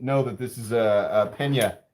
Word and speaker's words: Pena: Ryan Butler wants to see your peanut. Where's the peanut? What's a peanut? Oh, the peanut. So I'm sorry, my brother doesn't know that this is a pena. It's actually pronounced pena knives.